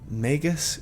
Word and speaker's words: Magus: I know, a lot of you think that Magus is the correct way to say it, but I think it just makes sense to have it sound like magic, whatever.